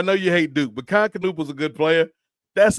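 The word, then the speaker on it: Knueppel: Like and with the K and the N together you still pronounce the K.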